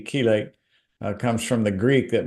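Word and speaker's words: chelate: have heard that term it's spelled c h l a te kelate comes from the Greek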